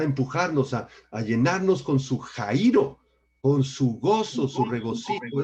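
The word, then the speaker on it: χαίρω: La palabra griega jairo, con X, acento en la I, jairo, describe un enorme gozo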